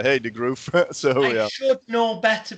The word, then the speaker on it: de Groof: But I think, well, I know the first bit's Rob, but I think it's de Groof, Rob de Groof. That's how English people pronounce it, but it's actually de Groof.